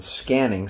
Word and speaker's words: SQANNING: for another session on scanning spelled s q a n n i n g uh just spelled with a Q to sort of distinguish it from the traditional spelling of scanning which uh if you